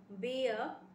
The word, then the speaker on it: beer: Beer, beer, bear, bear, bird, bird, beard, beard. Let me explain you. Number one, it's beer. It's not beer. आप इसको beer, beer, beer कहेंगे क्योंकि इसमें R silent है.